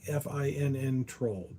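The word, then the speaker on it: Finntroll: It's like Finn troll.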